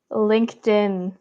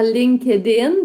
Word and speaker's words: LinkedIn: Ouais, j'entends LinkedIn parce que les Québécois, on prononce souvent le ED comme il est écrit. Fait que LinkedIn, malheureusement, c'est ça. Il faut comprendre qu'en anglais, il y a 3 façons de prononcer les ED et ce n'est pas ED. C'est vraiment TD ou ID.